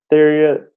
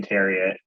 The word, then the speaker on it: Theriot: a guy named Ryan Theriot. I think that's how you pronounce it, was Theriot.